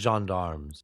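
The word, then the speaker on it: gendarmes: Is that how you say it? Jendarms. Jandarm. I thought it was Jean Darmms. Jean Darmm is the better word. I've been saying it wrongs for so long.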